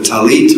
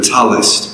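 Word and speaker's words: tallit: And in the Jewish tradition, this is called a talit or a talis, depending on how you pronounce Hebrew. I'm I pronounce it as talis, but many pronounce it talit.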